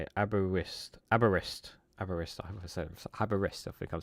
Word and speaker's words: Aberystwyth: But it is quite Aberystwyth is how you say it. Aberystwyth.